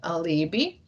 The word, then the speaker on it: alibi: heard about alibi or how we would pronounce that in latin alibi this is actually adverb meaning